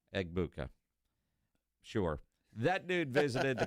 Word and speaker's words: Egbuka: Egbuka.